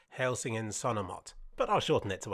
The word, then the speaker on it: Helsingin Sanomat: And this map was a project by the largest subscription newspaper in Finland, which I believe is pronounced Helsingin Sanomat.